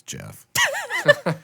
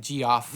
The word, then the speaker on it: Geoff: When I was a kid, I used to pronounce it G off. Me too. I'm like, what the hell is this guy's name? Geoff? GFFA. Jeff.